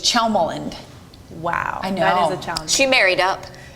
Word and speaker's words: Tjelmeland: It's pronounced like CH, Chelmeland.